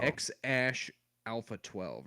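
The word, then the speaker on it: X Æ A-12: so bad but uh I think the AE symbol is pronounced Ash so I think it's X Ash Alpha 12 or something I think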